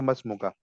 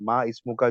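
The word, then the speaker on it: ما اسمك: लेकिन अगर अलिफ जो है वो किसी सेंटेंस के बीच में आ गया, किसी वर्ड के बीच में आ गया, तो उसको हम साइलेंट कर देते हैं। हम कहेंगे मसमुका, मसमुका। हम अलिफ पढ़ेंगे नहीं, यहाँ पे मसमुका बोलेंगे डायरेक्ट। माँ इसमुका जो है वो गलत हो जाएगा, ठीक है।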